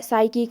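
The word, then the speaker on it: psychic: फिर है साइकिक में P साइलेंट है।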